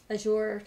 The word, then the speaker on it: Azure: let's see Rosemary Johnson Azure like pleasure for pronunciation pleasure Azure pleasure pleasure Azure that helps thanks um I don't